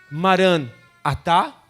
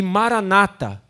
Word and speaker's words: Maranata: e dito e cantado ela pode ser pronunciada de duas maneiras Tá ok Maran atá é é uma expressão aramaica que significa o senhor está vindo e Maranata que o Senhor venha como igreja como noiva